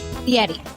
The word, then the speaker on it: Fieri: Fieri.